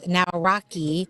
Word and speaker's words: Nawrocki: Yeah, Nawrocki. so I like how you said it. Yeah, Nawrocki, it's phonetic.